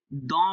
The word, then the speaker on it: dans: dans বলছি, dans. Dans. এ এন থাকলে অ হবে। হ্যাঁ এন থাকলে অ, দ, এন থাকলে অ হবে আর এসটা সাইলেন্ট থাকবে। হ্যাঁ।